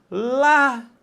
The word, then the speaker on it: lágrimas: Lágrimas, mais uma vez, preste atenção. A sílaba tônica não é a última, não é a penúltima, é a antepenúltima.